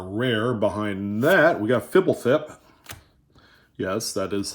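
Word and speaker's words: Fblthp: uh is our rare behind that we got fibblethip yes that is how you pronounce it the lost from ravnica block and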